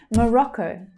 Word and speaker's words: Morocco: So the second syllable there is the stressed one. Morocco. So that final syllable is the O vowel sound, but the stressed syllable in the middle is the short O sound.